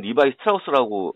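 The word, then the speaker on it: Levi Strauss: 원래 이름은 리바이 스트라우스라고 읽고요.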